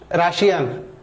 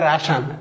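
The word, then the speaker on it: Russian: এবারে আসি, দেখেন Tamara speaks very dash রাশিয়ান, এর উচ্চারণ কিন্তু রাশিয়ান না, রাশান, রাশান, রাশা, রাশান।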